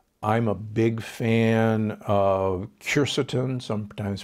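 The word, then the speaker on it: quercetin: milligrams of zinc i'm a big fan of curceton sometimes pronounced cursin it's a compound that's present in the white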